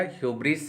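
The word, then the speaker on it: hubris: और इसका जो है प्रोनाउंसिएशन मैंने आपको ऑलरेडी बता दिया, ह्यूब्रिस है, हालांकि यहाँ लिखा गया है, आप देख सकते हैं।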